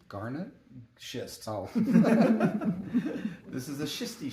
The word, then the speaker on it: schist: And make sure you get that pronounced correctly. Garnet? Schist.